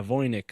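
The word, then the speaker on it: Voynich: what I'm sorry I'm writing it down yeah voynik so it's spelled v-o-y-n-i-c-h manuscript and and then yeah the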